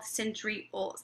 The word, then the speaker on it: centriole: So I always remember that centriole rhymes with pole.